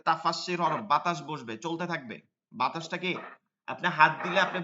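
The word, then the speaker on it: ث: ঠিক আছে কোন শব্দ আসতে পারবে না নরম উচ্চারণ করতে হবে বাতাস বসবে এটা তাফাসসির হরফ বাতাস বসবে চলতে থাকবে বাতাসটাকে আপনি হাত দিলে আপনি বুঝতে পারবেন বাতাস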